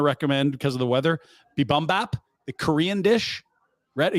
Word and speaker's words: Bibimbap: Bibimbap, the Korean dish.